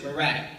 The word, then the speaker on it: Murat: It's French, but they pronounce it Murat, spelled M-U-R-A-T.